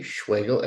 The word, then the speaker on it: Schwegel: D-A-V-I-D, Schwegel, S-C-H-W-E-G-E-L, spelled like Schweizer rhymes with bagel.